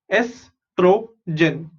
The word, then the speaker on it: estrogen: ES is S, TRO is tro, GEN is gen. Estrogen, estrogen and progesterone.